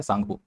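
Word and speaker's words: Tsangpo: मैं अभी आपको एग्जांपल के तौर पर समझा भी दूंगा और टी का मतलब होता है सांगो। सांगो में टी साइलेंट है।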